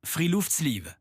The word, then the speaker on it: friluftsliv: Freel sleeve. Et si c'était la clé du bonheur ? C'est quoi le Freel Sleeve ? Freel Sleeve, ça se prononce Freeoft Sleeve.